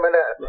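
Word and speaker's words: Monette: Is that how you pronounce it? Ray Manet, yeah.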